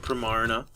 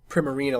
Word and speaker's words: Primarina: It's Prim, and it's like a Marina, which is a real word. I thought it was Primarina, like a prima donna, but that's what I but Marina.